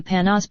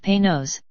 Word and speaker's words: Panoz: Yes, the Panoz, pronounced Panoz, not Panoz, does have a top